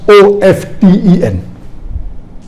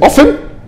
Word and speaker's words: often: n some will say often some will say often previously it was often then it became awesome no many people are saying often is correct t is not silent it should be pronounced some say t sign